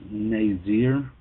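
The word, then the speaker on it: נזר: scriptures in there is hebrews 51 45 it's pronounced nazir and it's from hebrews 51 44 it means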